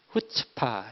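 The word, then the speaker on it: חוצפה: 앞에 스 2가 모금 이에요 발음이 어떻게 됩니까 후 측 파 이렇게 발음이 되자 끝집 타 되게 히브리어 기 때문에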